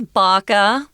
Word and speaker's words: BACA: Well, this is BACA. That's how we're pronouncing the acronym BACA, and it stands for Bikers Against Child Abuse.